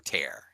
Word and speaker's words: Tear: Is that how you pronounce it? yeah. In the stone of Tyr. is it Tyr or Tear?